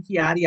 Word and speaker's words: Kiadii: my name is kiotti I always tell people is pronouncing my name think of the wine Kean and just put a D in there and you got it um I have been